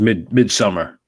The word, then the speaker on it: Midsommar: I think it's just midsummer. Midsummer. Am I saying it wrong? Midsommar? It's spelled like that because it's like Swedish, but yeah, I'm just midsummer. reading it like it's supposed to be read.